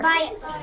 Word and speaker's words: bike: When there's a silent E at the end of a word, the magic E jumps over and makes that I long. So let's read this word together. Bite.